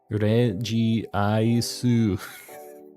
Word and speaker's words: Regice: I did for Arceus it is it's it's Reggie ice so why didn't they spell it Reggie ice why'd they do that um